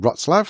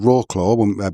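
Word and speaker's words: Wrocław: We were in a place called Rottzlav, which we called Rawclaw before we got there. Um, because it's spelled W R O C L A W.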